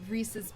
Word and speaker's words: Reese's: done that is everybody they're trying to say that like Reese's is the proper pronunciation I've always seen those